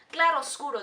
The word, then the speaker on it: claroscuro: the claroscuro, or chiaroscuro, or claroscuro, that's how you pronounce it in Spanish, which is one of Guillermo del Toro's favorite ways of cinematography, like one of his favorite methods.